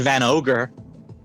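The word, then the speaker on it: Van Augur: whatever I think I I believe they pronounced as van ogre like I think that's the pun is that it's augur as in both augury and also Drilling and also ogre right because he sees things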